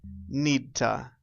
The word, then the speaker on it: need to: another verb for example need to we changed the sound and we say Nita Nita repeat I need to